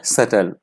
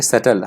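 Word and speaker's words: subtle: That is called सटल। बी यहाँ पे silent है, ध्यान रखिएगा, ये सटल सटल बोलेंगे हम इसे।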